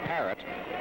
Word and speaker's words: Paret: Kid's name is spelled P-A-R-E-T, and of course the boys along the boxing beat have been calling him Paret, but the Cubans, I notice, call him Paret.